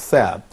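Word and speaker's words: ث: The fourth letter is pronounced like the first sound in 3. Do not associate this sound with the English letters Tha, because the English spelling represents 2 quite distinctive sounds.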